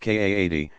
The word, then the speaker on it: qadi: religious judge called a qadi, pronounced Kaadi, himself authorized as a mufti, to adjudicate the matter.